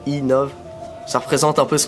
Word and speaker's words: MTB Nov: Donc quand on prononce MTB Nov en anglais, ça fait e-Nov.